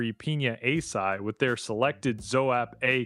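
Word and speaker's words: açaí: Man, the fruity candy sweet part is the pina asai side. That pineapple and asai berry flavor straight up. Is it pronouncedai or is it pronounced aki?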